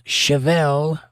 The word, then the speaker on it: Chevalier: Chevalier Leon says, Chevelle, pronounced like the car, and Yvonne.